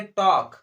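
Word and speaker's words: talk: तो इसको हम लोग कैसे पढ़ेंगे, टॉक। कैसे पढ़ेंगे, टॉक, ठीक है। टॉल्क नहीं पढ़ेंगे, ल नहीं पढ़ेंगे, ना, टॉल्क नहीं पढ़ेंगे, टॉक पढ़ेंगे, क्योंकि एल जो है वो साइलेंट है।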